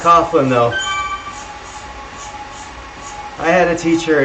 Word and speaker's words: Coughlin: It is pronounced Coughlin though.